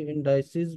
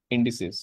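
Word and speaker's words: indices: सर इसकी fine, pronunciation no कैसे होगी, इंडाइसिस पढ़ सकते हैं इसे, रीड कर सकते हैं नो इंडिसेस इंडिसेस। इंडिसेस।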